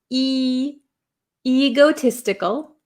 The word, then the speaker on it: egotistical: Um I have a lot of students in Japan that say ego egotistical. Um it's a long e sound. E egotistical. Egotistical.